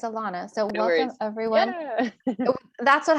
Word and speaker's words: Alana: show thank you and just one little correction love you say my name alana oh my goodness i'm so glad you i and i meant to ask you that at the beginning but thank you it's alana so welcome everyone that's